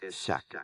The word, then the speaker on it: chaque: It's chaque, pronounced chaque, meaning each or every. Chaque. Is that pronounced correctly? It's very close. The sound is a bit softer, more like shack, with the ch sounding like the sh in ship.